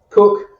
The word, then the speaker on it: Koek: and fellow coach, Koek. Cook. I always say it wrong. That's my dyslexia. Cook. Koek. It's Dutch and it's spelled super weird, so it makes sense.